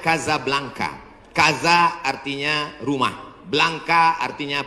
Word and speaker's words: Casablanca: nama negaranya Maroko ibukotanya tulisannya Casablanca cara bacanya Kasablanka Kaza artinya rumah blanka